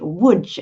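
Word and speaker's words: Łódź: identity sergio your your grandparents came from lodge woods as it should be pronounced in poland and um you told me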